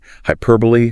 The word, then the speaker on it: hyperbole: Hyperbole. Stress pattern.